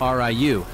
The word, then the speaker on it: Ryu: Turns out it was actually pronounced R-I-U.